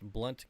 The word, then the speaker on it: Blount: Blount County is pronounced Blunt County.